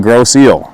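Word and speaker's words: Grosse Ile: Pronunciation, gross eel.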